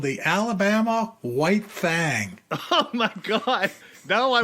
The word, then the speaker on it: Thang: But apparently you're supposed to spell and pronounce, thing as thang when you talk about the Alabama White Thang.